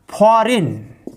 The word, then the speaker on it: foreign: FOREIGN, फॉरिन, फॉरिन miss होता है विदेशी। फॉरिन, फॉरिन मिस होता है विदेशी। देखिए जहां पर G+N हो वहां पर G साइलेंट होता है।